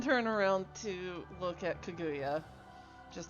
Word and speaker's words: Kaguya: I was told yeah kaguya it's it sound like he said kagaya or something like like there was an e instead of a u worries yeah even my